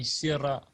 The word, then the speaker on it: Sirah: Yeah, the Sirah, or Sirat Rasulullah.